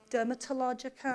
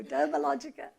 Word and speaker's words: Dermalogica: sense and of course no one could pronounce the name to begin with and we face that in every new market dermatologica and then it always a good opportunity to say no Dermalogica the brand DNA took